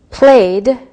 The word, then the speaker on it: played: Played, played with the D sound.